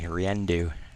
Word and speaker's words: Riendu: So this is one of the pronunciations that you had to have some help with, right? Phonetically sounded out for me, Riendu.